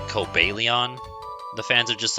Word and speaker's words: Cobalion: Yeah, Cobalion is what I say, and I feel like most people say, because Cobalt, you know? But Cobalion is what the official pronunciation is.